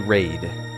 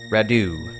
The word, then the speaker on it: Radu: was gonna call you raid we're not raid rad excuse me Radu it's pronounced radio pronounced like radio but radio radio okay